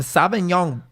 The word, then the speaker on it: Sauvignon: another episode of hosts we broke out some Sauvignon is that how I say it right you're